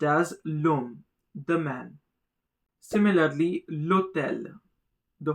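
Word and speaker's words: l'homme: Notice h is silent and therefore the l gets connected with the o. So pronounced as lom the man.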